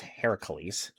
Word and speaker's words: Heracles: The actual myth of Hercules otherwise accurately pronounced Heracles was not the child of Zeus and Hera.